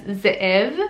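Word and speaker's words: Ze'ev: So you would actually have an apostrophe in the middle of the two E's for it to be pronounced correctly as Zeev, but Zeev it's a wolf.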